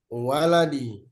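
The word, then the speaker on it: وَلَدِي: Eh, kalau walid itu ada alif di depan w walidin. Walidin enggak. Kalau walid, kalau walid itu ada alif di depan wau. Kalau ini enggak ada alif depan wau. Jadi bacanya waladi.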